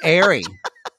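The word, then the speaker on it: Aerie: An Airy. An Airy. Airy, that's like, that's a shop, Airy. It's a women's shop, I think. I think puka shells come from like Hollister. No, Airy, too.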